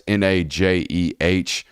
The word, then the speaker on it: Najee: Najee Wilkin as well is a name you need to know if you love a lot of high school football here in the state. That's Najeh. Wilkin, spelled like Wilkin, and then Bacon Network